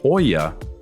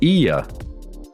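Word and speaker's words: Oia: it's worth saying that it appears to read Oya when in fact it's pronounced Iya Emma recommended us to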